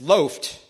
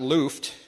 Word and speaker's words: Loft: It's Loft, like a loaf of bread, not Luft.